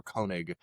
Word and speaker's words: Koenig: Kunig is correctly uh um spelled right.